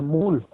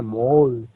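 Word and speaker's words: מול: En el hebreo se dice mul. Hoy en día la gente que hemos enseñado nos dice, "No se llama mul, se dice mol.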